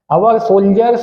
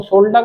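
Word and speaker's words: soldier: enjoy कर रहा होगा सोल्जर्स will be fighting in Kargil हमारे सोल्जर इसको शोल्डर मत padhiyega शोल्डर मतलब सोल्जर का मतलब सेमिक और शोल्डर की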